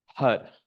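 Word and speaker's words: HAR: audibly now a mantra, HUD. It's spelled H-A-R, but we pronounce it like H-U-D. HUD. The tongue flicks the roof of the mouth with that R sound.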